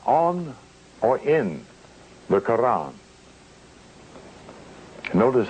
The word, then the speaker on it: Quran: on or in the Quran. Notice how I pronounce that with the flavor of an Arabic intent. Notice how I pronounce the Koran of the Moorish Science Temple.